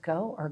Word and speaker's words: Goo: I don't know if it's pronounced go or goo. It looked like God on the cover, but it's Goo.